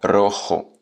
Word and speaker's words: rojo: niveau de base débutant à un rouge c'est rojo bons exercices de prononciation le pôle coup quand même heureux air